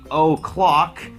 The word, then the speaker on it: o'clock: เวลา ตอบ นะ ครับ ถ้า มี O Clock O มัก จะ ออก เสียง ว่า เออะ นะ ฮะ หรือ อะ อย่าง เงี้ย แล้ว อัน นี้